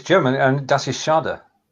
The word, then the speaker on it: schade: Das ist schade.